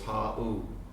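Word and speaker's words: hau: So he's saying, I just discovered and the Sanskrit for wow is ha'u. Try it, say it, ha'u. Ha'u. Ha'u. But say it like this, how.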